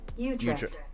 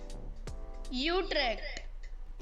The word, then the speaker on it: Utrecht: How to pronounce Utrecht? Okay. Utrecht.